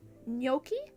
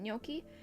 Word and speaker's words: gnocchi: And I tried gnocchi. I'm pretty sure that's how you say it, gnocchi.